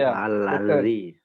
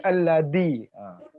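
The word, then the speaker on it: الذي: Lidahnya ditaruh atas gigi atas gitu. Allazi. Allazi bukan alladzi.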